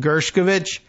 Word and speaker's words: Gershkovich: taken the time to be doubly sure I'm pronouncing correctly but Evan gershkovich so Evans at home and yes the some